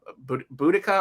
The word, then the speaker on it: Boudica: Boudica or Boudicca, I think, are the two ways.